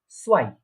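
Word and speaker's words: zwei: তো তাহলে এটা কি উচ্চারণ হচ্ছে, প্রোনাউন্সিয়েশনটা কি হচ্ছে, আইনস। ঠিক আছে, তারপরে 2 বা 2 কে বলা হয় সোয়াই, সোয়াই, 2 কে বলা হচ্ছে সোয়াই।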